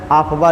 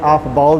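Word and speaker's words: Aufbau: सम writers pronunciation जो है आफ्बा लिखे हैं, आफ्बाओ भी कहा जाता है।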